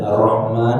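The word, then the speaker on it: الرحمن: Sebagai contoh, membaca "Bismillahi" dengan 'lam' yang panjang, "Ar-Rahman" dengan ' mim' yang panjang, dan "Ar-Rahim" dengan 'ha' yang panjang.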